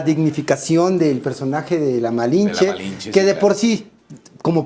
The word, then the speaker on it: Malinche: los su nombre, pero el término malinche es porque ellos no podían pronunciar el malince. Entonces, malinche, era más fácil les cheque la Pero